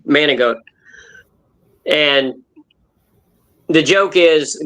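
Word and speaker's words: Manigault: name manic goat but g is how it's spelled but it's frenched in Manic manot and the joke is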